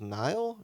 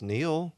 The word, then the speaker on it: Neal: And, you know, you scan your badge, and she goes, Nile? And I said, I am not a river in Egypt. What? She goes, how do you say it? It's Neal.